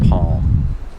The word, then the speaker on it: palm: pronunciation of palm palm the l is silent that's right now if you ask an american they'll say they pronounce the l because they move their tongue up to make the l sound but they never touch the roof of their mouth so it's not a real l and you don't really